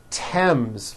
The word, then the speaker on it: Thames: Although these next words and names are spelled with a TH, they are pronounced as if they were spelled with a normal T, like that. And these words are Thomas, Thompson, Teresa, Thailand, Thames, like the river, Esther, and thyme, which is a spice.